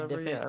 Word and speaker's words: DiVincenzo: Am I even pronouncing that bro's name right? Yeah, DiVincenzo.